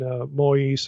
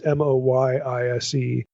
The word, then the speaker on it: Moyise: Again, the ones, there's one by Beale, there's one by Stephen Moyse. I don't even know if I'm pronouncing his name correctly. It's Moyise.